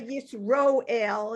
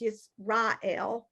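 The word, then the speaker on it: ישראל: And they'll say Yisroel, and it's Yisrael. I know somebody this morning said Yisroel, but that's another holdover from, I don't know if it's Ashkenazi pronunciation or, but I've never really understood, since most of us are Ashkenazi, why did we switch to Sephardic pronunciation?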